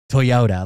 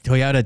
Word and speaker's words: Toyota: putting it like Toyota like Toyota to me it just has like one solid inflection but like when you say it it's really heavy on like the T and the Y like the most thick both the kind of resonance it's like a harder